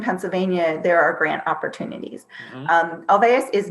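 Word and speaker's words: Olweus: want more information about Olveus, it's spelled spell it for me. O-L. It's O-L-W-E-U-S. Yeah. Dr. Olveus was Swedish, so that W for us in the English language is a V.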